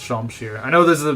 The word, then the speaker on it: Shamshir: Like, the scimitar, not the scimitar, the Shamshir was in FE8, but actually I think it is properly pronounced Shamshir.